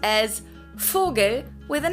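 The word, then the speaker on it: Vogel: right another pronunciation thing the v in german is pronounced exactly the same as the f in german it's both they're just written differently for example the word bird in german is called fogel fogel it's also with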